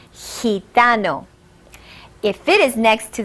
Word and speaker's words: gitano: The rule of the G is, if it is next to the letters E or I, it will have a soft sound, as in gitano.